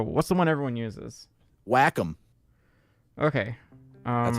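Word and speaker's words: Wacom: Whackom. Okay. Um, that's how you actually pronounce it. It's not Waycom. It's actually pronounced Whackom. Whackom.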